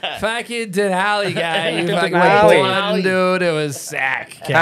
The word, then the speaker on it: Denali: It's Denali. Denali. Yeah, that's okay. Some like mass roots coming through. Yeah, the mass. There's no Duncan D's up there. Fucking Denali guy. You fucking Denali.